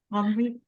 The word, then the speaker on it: Henri: Henri. Yeah, you don't pronounce the H's like in Spanish, and you don't pronounce the last like consonants and vowels.